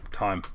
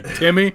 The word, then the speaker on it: Timme: So it's Drew Tim. Tim. I told you this off air. It's Drew Tim. Tim. Terrible with names. He's got a bad name. It's spelled funny. It's nothing new. Timme. If anyone else could tell me and look at that name that it would be Timmy or Time, Tim.